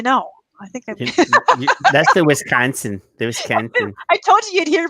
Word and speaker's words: Wisconsin: And Wisconsin. You have to get the nasal there. It's not Wisconsin.